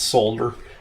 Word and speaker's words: solder: the whole country to start pronouncing it solder instead of solder. We might as well say it right. So, Solder. I mean, it's not a silent L in there.